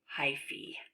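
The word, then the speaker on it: hyphae: out in every direction actually I think this is pronounced hyphy look at that silly word that you would think that is an a let's see if we click on it oh look at that pronounced hi fee when hi see bump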